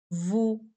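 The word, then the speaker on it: vous: हमेशा यूज करना है वू यू के लिए हम क्या यूज करेंगे वू इसमें भी हमारे पास एस साइलेंट है नेक्स्ट है हमारे पास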